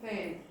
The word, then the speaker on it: failed: Studied, but she she failed. She studied, but she failed. Yeah? Failed. Remember? We don't pronounce this A.